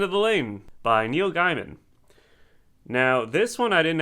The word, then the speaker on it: Gaiman: The thing with Neil Gaiman (pronounced wrong) is that I haven't- Angela: It's Gaiman.